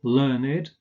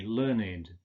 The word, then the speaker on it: learned: like verbissen in German, learned, as in a learned word, Bildungssprache. Of course, the past participle is pronounced learned. He learned something. or even he learnt something with a T, and also spelt with a T in that case. But in this case, with the meaning gebildet, Sprache, Bildungswort, gebildetes Wort, we say learned.